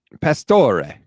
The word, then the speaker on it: Pastore: Pastore. There you go. Okay. I was making sure you were going to say Ray at the end rather than Re, as most American Italians like to say.